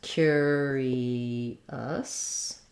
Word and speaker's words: curious: what's sometimes challenging here is the cure part that letter U has two sounds it's a yeah Glide and a cure and an ER it Glides into the ER sound so cure um first syllable stress Curie us another schwa